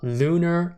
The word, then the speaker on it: LUNR: L NR or basically lunar all right this ticker symbol is telling us that this ticker is spelled out to be uh pronounced Luna and it makes perfectly it